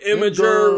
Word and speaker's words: Imgur: Even though we've been calling it awkward Imgur, I'm going to start referring to it as Imgur because apparently that's the way to actually pronounce it.